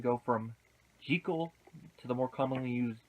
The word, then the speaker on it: Jekyll: want to look into is why did the pronunciation of the name go from G cool to the more commonly used Jekyll it's an interesting thing I think Hollywood has